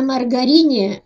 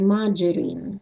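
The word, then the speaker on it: margarine: Маджерин. Маджерин. Маргарин. Маджерин.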